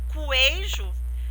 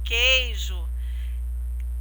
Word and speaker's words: queijo: O queijo, nesse caso, esse QU, ele é dígrafo, porque eu não pronuncio a letrinha U, eu não falo coejo, eu falo queijo.